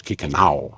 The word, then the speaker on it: Kikino: cuz as you know the word Kiko means our home well actually in cre it's kikau that's how you say it in cre but it means our